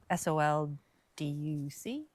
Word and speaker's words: Sol Duc: I think I pronounced that right. Yeah, SOLDUC, Sol Duc.